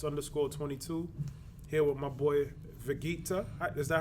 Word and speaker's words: Vegeekta: This is who else _22 here with my boy Vegeekta. Is that how you pronounce it?